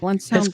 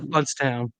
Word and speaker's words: Blountstown: It's Bluntstown, pronounced Bluntstown.